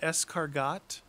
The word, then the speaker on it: escargot: escargot is that how you pronounce it escargot yeah that's exactly how you do it that